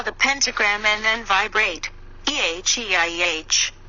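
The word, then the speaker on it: Eheieh: the west draw the pentagram and then vibrate eh e IH pronounced a hiya it means an for continued the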